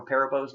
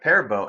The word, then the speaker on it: Perabo: was off air and I mentioned you know Piper Perabo and he goes paurav oh and he was serious like he was legit serious like hey like like you're wrong and I was like okay well I don't know if I've ever really heard her name said but I thought